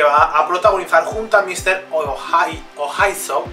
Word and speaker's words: Mr. Oizo: Muy buenas, Charlie XCX acaba de anunciar un EP que va a protagonizar junto a Mr. Ohaiso, creo que se pronuncia así, que es un productor francés, un artista francés, también es director de cine.